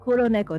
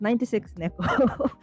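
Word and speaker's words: 96猫: Naruse, Amatsuki, Kuroneko, again, Kuroneko, not 96 Neko, as I did when I was pretty a kid.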